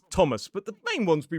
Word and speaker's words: Thomas: Well, certain words pronounce it as a th like the river temps and Thomas.